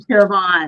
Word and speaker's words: Siobhan: So, the B and the H make the V sound and it really hangs people up.